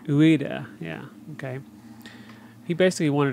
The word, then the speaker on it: Ueda: Fumito Ueda. Ueda, yeah, okay.